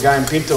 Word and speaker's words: gallo pinto: start prepping for the guy in pinto a little bit so what i'm gonna do how do you say that again okay g-a-l-l-o and in spanish two l's make a y sound and then pinto which